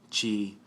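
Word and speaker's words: ち: Chi and tsu from the T column are a little bit different. They don't begin with T. They're a little off. Well, not really off with the vowels. They both end in E, chi, tsu, u, tsu. So they still represent the E and the U, but it can be confusing because they don't start with a T.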